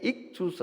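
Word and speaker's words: ΙΧΘΥΣ: 있고 아이 헬라 그리스인 그것이 대문자로 돼 있는데 익투스 아고 발음합니다 아요 이제 물고기라는 뜻입니다 투스는 영어로 말하면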